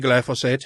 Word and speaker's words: glyphosate: And just for measure, the amount of toxicity of glyphosate, how do you say it? Which way do you say it? I say glyphosate.